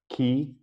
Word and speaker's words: Quay: acquired there's also been some other changes at key for spelled I was been mispronouncing at Quay for my whole time at git web which